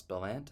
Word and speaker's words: Bellant: to this conversation that I had with Russ bellant and that is actually the correct way to pronounce his name um and you want to